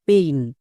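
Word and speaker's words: pain: হয়ে যাবে তাই এই জিনিসটা মনে রাখবা এ আই এর জন্য সবসময় এই সাউন্ড হবে যেমন পেইন একে আমরা ভুল করেও পেন বলবো না তাহলে আরো কয়েকটি ওয়ার্ড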